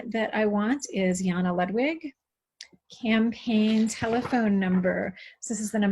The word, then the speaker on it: Ludwig: I'm kind of glad that my family doesn't pronounce it Ludwig, because then I'd have to write Lud on state paperwork, and that seems kind of cheeseball.